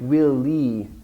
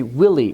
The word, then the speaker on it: Willie: short for William, and she was pronouncing each syllable equally. So it sounded like Willie. And I thought she was echoing the question back to me, will lead? But she meant to say Willie, which should have a clear stress on the